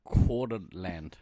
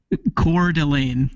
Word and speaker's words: Coeur d'Alene: Coeur d'Alene. Coeur d'Alene. Coeur d'Alene. Think like French pronunciation.